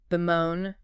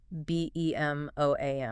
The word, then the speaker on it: bemoan: Bemoan. B-E-M-O-A-N. Bemoan. 2 syllables. Stress on the second.